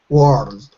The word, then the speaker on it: world: you if you like you could even break it into two syllables it won't sound odd if you break it into two syllables so the first syllable would be were so say that were word er like bird word good don't put the D on just say were and the second syllable old old old so you could break it up into world world world okay I can I